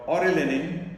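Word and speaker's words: orellanine: get back to mushrooms we have this category called aurelinin and oranellin it's a little confusing is it what is spelled o r e l l a n i n e so that is rna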